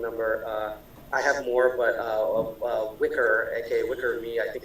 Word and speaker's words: Wickr: And as an alternative, in my experience, for something that doesn't use a phone number, I have more, but Wicker, aka Wicker Me, I think it's spelled WICKR, is one where you just make